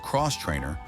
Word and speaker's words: X-Trainer: Everyone talks about the Beta RR race models, but the X-Trainer, pronounced Cross Trainer, is the real hero for the amateur rider.